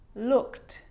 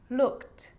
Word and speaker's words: looked: it's own syllable but a lot of the time that e isn't pronounced looked just played baked rapped now they could be a little bit tricky so let's do it again looked asked played baked rapped